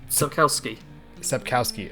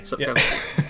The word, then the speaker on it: Sapkowski: Sapkowski. Okay. Sapkowski.